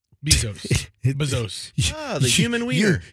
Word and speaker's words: Bezos: bizos the human weer you've said his name three times and you've mispronounced it every time I'm not exactly sure how to say it after all Bezos remember like ba Tampa Bezos Jeff Bezos so it's Jeff bezos's